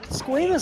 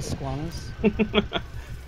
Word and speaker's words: squamous: cells oh my gosh squamous cells come on I thought it was Squam yeah if you want to say it wrong you can say Squam what if I do